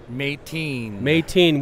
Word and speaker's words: Meitin: Now, tell me, is it Meitin or Meitin? Meitin.